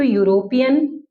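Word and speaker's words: European: रहे हैं, ई से, लेकिन इसकी अगर मैं प्रोनाउंसिएशन देखूं तो यूरोपियन and this one is engineer. क्या किया हमने, यूरोपियन बोला और इंजीनियर बोला, लेकिन दोनों की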